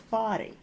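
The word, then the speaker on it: Bodie: While some pronounce the name with a long O sound, it is traditionally pronounced as body.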